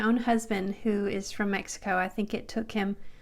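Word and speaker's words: México: It's like a K-S, examen, or in Mexico, it's pronounced like an H, Mexico.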